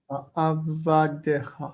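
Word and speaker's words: עבדיך: Ki avdecha. Right. avadecha. Avadecha. Right.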